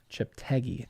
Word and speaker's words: Cheptegei: Yeah, did someone phonetically? Yeah, Cheptegei. Cheptegei.